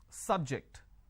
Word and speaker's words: subject: is an interesting subject I am stressing on the first syllable so I say biology is an interesting subject I'm I'm stressing on the first syllable okay now I am using another example please don't subject the students to any tests so here my stress has moved to the second syllable for example when I